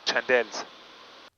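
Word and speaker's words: Chandelle: chandel how do you say Chandal in Hebrew chandel correct chandel correct my friend correct here we go 270 we're uh we're doing good on speed and everything so we're going to do a chandel to the left you ready sounds good here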